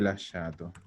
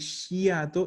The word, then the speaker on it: lasciato: Y la SCIA, de nuevo no se pronuncia la A, no es shiato, es sha. Entonces vendría a ser así. Lasciato.